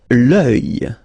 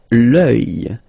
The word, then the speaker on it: œil: L'œil. L'œil. Strange combination of vowels here, okay, and then you will get the sound and then y, oeil, alright, and it's masculine, by the way. Un oeil, l'œil, okay.